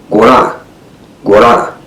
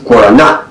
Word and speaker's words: guarana: I used to say guarana. And a friend of mine from South America said, no, you stop it. It's guarana. It has a na at the end of it.